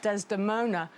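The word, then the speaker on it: Desdemona: love for desona and even the word Des deona has lots of syllables how many desona four most of our names have two syllables or one four is very unusual he can't it's like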